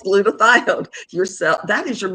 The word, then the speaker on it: glutathione: It you said what is glutamate and I said no doctor I am pronouncing it correctly and it's glutathione your cell that is your master antioxidant that your cells make.